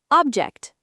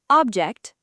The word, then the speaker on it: object: Word three. Object noun object verb object noun what's that object verb I object to this plan word four contract